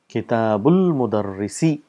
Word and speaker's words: kitabul mudarrisi: And how do we say kitabul mudarrisi? This is hamzatul wasl, so we don't pronounce the sound because there's a word coming in front of it. So we say kitabul mudarrisi.